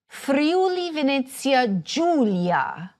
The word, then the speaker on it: Friuli-Venezia Giulia: They are hard in front of all vowels except for "e" and "i," where they have a soft sound. Pay attention to this because it can be counterintuitive. You say, for example, Friuli-Venezia GIULIA.